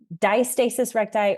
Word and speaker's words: diastasis recti: I've heard it pronounced both ways. Diastasis recti or diastasis recti, but it basically means ab separation.